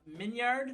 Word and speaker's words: Minyard: Anytime I'm telling people how to pronounce it, I always hang on the yard to really let them know how it's spelled. But it's Minyard.